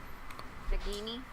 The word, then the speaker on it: Nagini: So hard G. It's okay. It's okay, puppy. It's okay. G. Nagini.